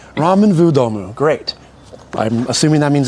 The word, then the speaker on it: ramen w domu: How do you pronounce this, by the way? Ramen w domu. V. Ramen w domu. Great. I was like, ramen W domu? All right. Ramen vu domu.